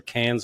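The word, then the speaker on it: Cannes: is it cons or cans I always pronounce it wrong it depends on how French you want to pretend to be it's I think the official pronunciation is can can and I know you're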